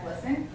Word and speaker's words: GLSEN: I believe is what it came down to, but it's pronounced as GLSEN.